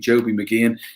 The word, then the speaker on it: Mageean: We've got a fantastic comedian, Joby McGeehan.